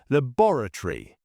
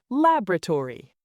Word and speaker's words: laboratory: British, laboratory. American, laboratory. Privacy.